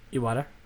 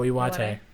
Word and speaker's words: Iwate: I probably just butchered that, but whatever. Iwata? Oh, Iwate.